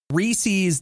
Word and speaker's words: Reese's: Reese's does not rhyme with feces.